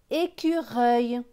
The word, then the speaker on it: écureuil: Le C va se prononcer que, parce qu'il y a le U juste après, donc Q.